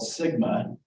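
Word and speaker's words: SGMA: in the news is something called Sigma is how we pronounce it the sustainable groundwater management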